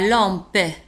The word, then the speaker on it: lampe: المصباح la lampe. une lampe. المصباح la lampe. لاحظوا على أن la lampe تنتهي ب PE وتنطق. رددوا معي من فضلكم la lampe.